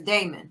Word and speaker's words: Daemon: That man's name is Daemon, not Damien.